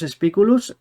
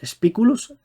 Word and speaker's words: Spiculus: Y nada, bueno, Javier, Javier pertenece a la a la Asociación de Gladiatura Lucius Spicculus. Creo que lo he pronunciado mal, sería Lucius Spiculus.